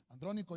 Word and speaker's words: Andrónico: enseñanza y de didáctica andrónico lleva acento en la primera y andrónico es un